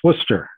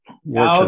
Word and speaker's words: Worcester: Just because I know that my family will jump on me if I don't correct you, it's Worcester, not Worcester.